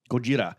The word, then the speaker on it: Gojira: IP oh you should you should say it properly Gojira yeah is the [